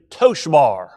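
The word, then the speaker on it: צֹהַר: In Hebrew, the word is toshbar. Toshbar. T-S-O-B-A-R is how we would spell it.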